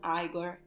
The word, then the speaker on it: Igor: unback buing eyed servant named eagor pronounced as aigor and a lovely young